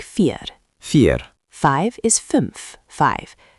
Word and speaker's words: fünf: Five is fünf, five. The ü is rounded, like you're whistling a little, fünf.